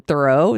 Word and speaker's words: Theroux: And she's in a relationship with Justin Theroux. Is that how you pronounce his name?